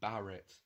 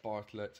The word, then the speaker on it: Bartlett: And also, throughout the film, they get his name wrong and call him Barrett, which is kind of strange to see how they got it so close yet so far.